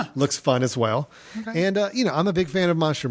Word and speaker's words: Ai: It's I, which is A-I, that's his first name, and then Wei Wei, which is W-E-I, W-E-I, and that's all it is.